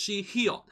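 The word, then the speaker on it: Sihyeon: which is Shihyun, because she's basically written like Shion from Dreamcatcher but with an additional H, so it's Shihyun.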